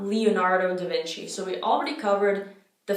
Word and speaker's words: da Vinci: have the seat down it's not duh it's da da Vinci da Vinci Leonardo da Vinci so it's the same